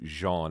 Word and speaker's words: Jeanne: going to call you Jeanne. Everybody should know that it's spelled J-E-A-N-N-E, which there's a whole story, like Becca was saying, is that like Jean Valjean? And I said, well, it's pronounced like that.